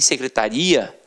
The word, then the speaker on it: secretaria: e você tem secretária e você tem secretaria e aí já é o que já é diferente já não é mais uma paróquia situada a terminar de tonghua é você já tem uma pronúncia diferenciado então secretária o secretário